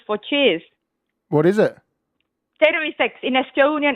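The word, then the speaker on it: terviseks: It sounds like you're saying battery sex.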